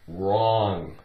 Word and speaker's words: wrong: Okay, we have the word wrong. Take away the W, ong. O-N-G makes the ong sound. Like I-N-G is ing.